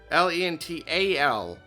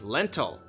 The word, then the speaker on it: Lental: Lental. So it's not spelled like lentil, like the beans, but you say it the same way, lentil.